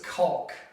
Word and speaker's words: caulk: First things first, you need to know how to pronounce this, and it does not rhyme with. This is caulk.